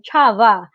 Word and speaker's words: Csaba: Uh, what was I was saying his pronunciation of his name, Chava. It's his pronunciation of his name. So I hope I had said it well. Hello, Yes. Chava.